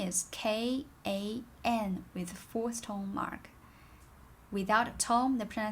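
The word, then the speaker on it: 看: to look p is k a n with four stone mark without a tome the pronunciation is kan the tone is fourth tone which sounds like ao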